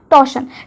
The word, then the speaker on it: torsion: हैं टेटी कूल टशन यहां पे जो आर होता है वो साइलेंट होता है तो हम इसको बोलते हैं टेस्टिकुलर टशन टेस्टिकुलर का मतलब क्या